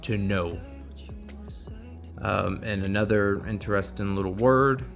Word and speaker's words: Tonneau: Also a Cartier Tonneau. I believe that's French, so that's how you pronounce it, and I will have it spelled out and everything on the description and review.